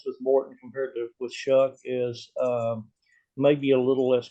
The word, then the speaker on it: Shough: Just want to make sure I pronounce that right. And Tyler, say his name. Shough.